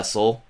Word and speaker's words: Seoul: So So so like where like I only know I think Seoul. Is that how you pronounce it? yeah, Seoul.